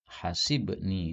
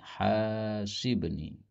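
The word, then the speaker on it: حاسبني: Allah subhanahu wa taala Nah di sini banyak orang yang bacanya Salah ya Rabbi hasibni ini salah Ya mestinya haknya panjang Rabbi hasibni karena hasaba yuhasibu berarti hasibni ya Allah hisablah saya hisaba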